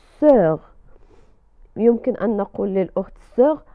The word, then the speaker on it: sœur: في كلمة sœur نرى O و E و U، فتنطق sœur.